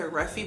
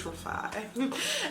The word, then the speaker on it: Rafi: in five foundation brush I was pronouncing this wrong for so long I kept saying refy but it's Rafi um and I wash